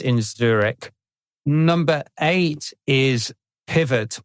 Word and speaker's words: Pivot: Zurich number eight is Pivot or PIV because they're a french-based company I guess that's pronounced PIV and pivot I'm going to call them pivot I'm a native English speaker and it's bit awkward pronouncing It the French way they are a spend